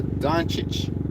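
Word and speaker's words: Dončić: on he goes by the name of Luca Don Cheech or Duchess his last misspelled do ncic but it's is pronounced on Shh which I'm not gonna argue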